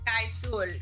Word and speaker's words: Kaisul: And it's pronounced Kaisul. Kaisul. Oh, I'm sorry. Like cool. Okay, but wait.